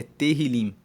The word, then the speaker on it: Tehillim: o título de Salmos na Bíblia hebraica é Tehillim. Se escreve T-E-H-I-L-I-M.